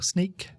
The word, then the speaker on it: Snyk: Just look for Stephen Phillips on LinkedIn, or Sneak, which is spelt SNYK.